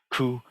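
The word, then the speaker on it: 去: Chinese which just means it's pronounced something like coup but it means go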